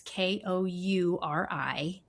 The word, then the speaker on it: Kouri Richins: Kouri Richins. It's Kouri-Richins.